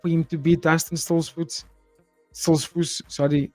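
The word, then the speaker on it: Stoltzfus: Or I thought that was kind of geared up for him to beat Dustin Stolzfus. Sorry, Stolzfus.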